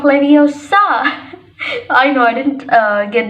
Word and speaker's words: Leviosa: It's Wingardium Leviosa, not Leviosa.